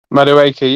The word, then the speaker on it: Madueke: Animation saying he may have rather have gone with Maduka instead, or however you pronounce his name. Madueke, yeah.